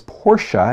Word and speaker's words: Porsche: I don't care if the car is a $10,000 used Datsun or if it's a $100,000 plus Porsche, and I said it right, you folks.